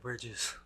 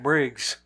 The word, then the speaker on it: Bridges: Harvey kitel and Jeff Bridges keto Kito you said keto yeah she also said Jeff Briggs is it not Briggs pretty sure it's Bridges oh my God spell